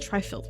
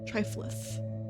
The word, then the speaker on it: Triflith: I said Trifilth before. That's so mean of me. Triflith.